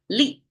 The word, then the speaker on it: 力: And you can see the top is the pronunciation Li. The tone here for the fourth tone in Chinese.